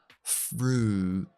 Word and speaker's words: fruit: Entonces, la i no se pronuncia, así que fruta es fruit, fruit, nada de i, no fruit, fruit, fruit.